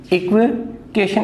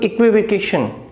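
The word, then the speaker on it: equivocation: और एक बात और ध्यान में रखना, यहां मैंने स्ट्रेस लगाया, प्राइमरी स्ट्रेस। और ऐसे वर्ड जिनके लास्ट में TION का जो साउंड देते हैं, तो जो स्ट्रेस जो होता है वो उनसे जस्ट पहले वाले सिलेबल पे स्ट्रेस रहता है, इसलिए शन तो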